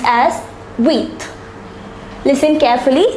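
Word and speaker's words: huit: is pronounced as Seth the number eight is pronounced as wheat listen carefully it's pronounced as with the number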